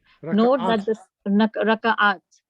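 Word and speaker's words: ركعات: Note that the Raka'at. Note that the second letter ka has sukoon in the singular and fatha in the plural.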